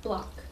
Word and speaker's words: Bloch: How would you pronounce Bloch. It? Bloch. Bloch.